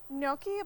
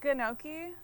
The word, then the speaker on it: gnocchi: They pronounce how how they pronounce Noki, but that could be wrong. So, I always pronounce it like or you could do the hard G in the front where it's like ginoki.